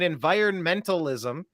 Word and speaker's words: environmentalism: And by the way, I like people that pronounce the N in environmentalism. Environmentalism. It's easy to leave it out, but when you add it, it adds a certain gravitas.